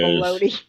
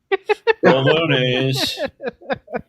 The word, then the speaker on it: bolognese: It was bolognese, and she kept calling it bologna. Bolognese. I finally told her it's pronounced bolognese, and she said, "Oh."